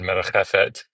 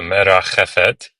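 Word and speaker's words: מְרַחֶפֶת: So that word merachefet, that first shiva underneath of the mem is a vocal shiva. And you know it's vocal because it's at the beginning of a word. Every shiva that's at the beginning of a word like that is vocal because you have to pronounce it.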